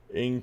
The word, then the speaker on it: Ng: Cheetah pronounced Cheetah and Ing pronounced Ing."